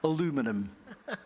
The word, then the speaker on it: aluminum: a massive producer of is it aluminium that's the proper way of pronouncing it yes or is it the other stuff aluminum you know it depends which country you are so we're here you